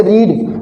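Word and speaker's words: read: जैसे रीड, अब रीड की सेकंड फॉर्म में ईडी नहीं लगाएंगे और रीडेड नहीं करेंगे, रीड की सेकंड फॉर्म रीड बोलते हैं, लेकिन इसका उच्चारण बदल जाएगा, रेड हो जाएगा।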